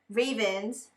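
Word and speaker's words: Ravn: So I got Ravens, that's how you say his name, like from my Oneus video.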